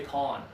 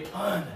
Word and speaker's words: pun: He didn't tell me a pawn. He told me a pun. Yeah, I gave a pun to the class, okay? If Chari says, I don't care about the pressure, doesn't matter. He's going to accidentally say pawn, which is a different verb, okay? He might even say pan, but probably not. But pawn and pun are very similar, but the pressure matters.